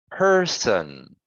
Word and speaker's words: person: exactly right yeah good so we have two syllables the let me just actually go like this so the second the sorry the first syllable is stressed let me change the color so it's person so this one is lower okay like that person um person two syllables the first syllable is Strat good great job how